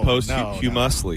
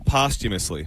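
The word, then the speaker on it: posthumously: I wanted to say post humusly. No humusly. Nope. No. Postumously.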